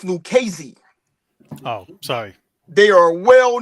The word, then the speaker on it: Lucchese: The family is pronounced Lucchese.